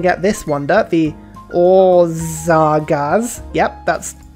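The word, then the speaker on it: Országház: I'm also going to get this wonder, the Orzagaz. Yep, that's how you pronounce it.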